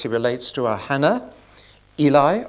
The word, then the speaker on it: Eli: relates to are Hannah Eli or Ellie as we should say and Saul or Saul